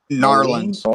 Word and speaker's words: New Orleans: New Orleans. Yeah, there you go. That's what I meant. The vampire. Or sorry, is it New Orleans? New Orleans? Am I saying it right? No. Narlands. New Orleans.